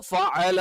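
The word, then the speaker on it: فَعَلَ: അപ്പൊ ഇവിടെ ഫ എന്നുള്ള ഒരു ഉച്ചാരണം അത് നമ്മൾ ശ്രദ്ധിക്കണം. അലം തറ കൈഫ ഫഅല. കൈഫ ഫഅല. അപ്പൊ ഇവിടെ രണ്ട് വരി മുൻപല്ലുകൾ താഴെ ചുണ്ടിൽ ചേർത്ത് വെച്ചിട്ടാണ് ഫ എന്നുള്ള ഉച്ചാരണം വരുന്നത്.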